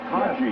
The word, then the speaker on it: Taji: Is that how you pronounce it? Taji. Oh, I'm sorry, Taji. Taji, yes.